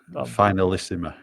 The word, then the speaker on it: Finalissima: Fin killing the pronunciation. Finanisimo. Oh, finalisima.